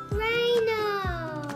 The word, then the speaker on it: rhino: okay blocked okay rhino and we have a silent letter um there's a salad that are there the letters that one yes oh yes right here H and then Rhino the rhinosaurus and